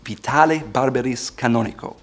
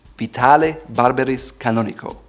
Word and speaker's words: Vitale Barberis Canonico: Last but not least, there's another Italian cloth weaver by the name of Vitale Barberis Canonico. Vitale Barberis Canonico.